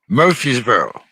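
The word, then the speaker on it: Murfreesboro: which is where the fight card will be murphysboro yeah oh that's how you pronounce it yeah yeah yeah someone that's been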